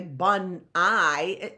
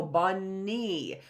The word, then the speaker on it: bunny: word that's bunai so we're not going to say bunai when we read it we're gonna go bunny we're gonna know right